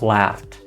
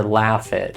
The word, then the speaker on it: laughed: Laugh becomes laughed. Call becomes called. Play becomes played. I'm not saying walkid or laughid. I'm keeping the word one beat, one sound, one syllable.